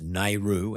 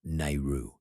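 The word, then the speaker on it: NAIRU: something there's this concept it says it's pronounced nehru n-a-i-r-u um and it relates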